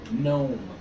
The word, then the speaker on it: gnome: It's a one syllable word. Gnome.